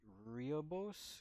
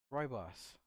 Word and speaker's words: rooibos: Sweet and festive Ruby Riobos? Rio. I never know how to pronounce this. Let's learn something together. Here, let's go. How do you pronounce that? Oh, here we go. Rooibos.